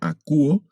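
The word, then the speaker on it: ἀκούω: Si ustedes observan, al final de esta palabra hay 3 vocales, pero el diptongo que está en medio lo vamos a pronunciar únicamente como U. Leemos esta palabra acuo, que significa oigo o escucho.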